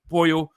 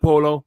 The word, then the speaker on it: pollo: It's In Spanish, the two L's are form a Y sound, just like pollo, not polo.